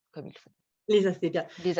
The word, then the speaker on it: asclépiades: Est-ce que je le prononce comme il faut? Les asclépiades. Les asclépiades.